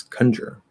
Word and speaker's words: conjure: to pronounce conjurer as conjurer conjure definitely no why would anybody say that we're not reducing it it's a stressed syllable it's not kun uh